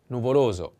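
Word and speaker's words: nuvoloso: adjectives are you ready the first is nuvolozo the accent is on the second o and this is the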